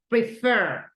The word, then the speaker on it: prefer: prefer receive repair correct remember that right here the syllables go in the the stress go in the second syllable prefer right prefer thank you very